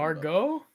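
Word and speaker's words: Margot: Margaret Robbie. Margaret. I know I'm saying her name wrong, but you know who I'm talking about. Margo.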